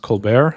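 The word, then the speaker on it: ColBERT: It's pronounced Colbear. I don't know if it's uh named after the comedian or if people just liked how the French pronunciation is, but that is how it's pronounced.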